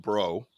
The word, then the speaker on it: Brault: Like my name's Brault, but it's pronounced bro, really.